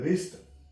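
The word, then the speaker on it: wrist: तो डब् साइलेंट हो जाता है फॉर एमल रिस्ट डब्लू य प साइलेंट होगा यहां से हम साउंड इसकी लेंगे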